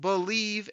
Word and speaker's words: BLEAV: It's called Believe in Lions, and that's spelled BLEAV on the Believe Podcasting Network, with both myself and Lions legendary safety Benny Blades.